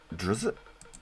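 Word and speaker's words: Drizzt: It's a name from a fantasy novel pronounced Drizz.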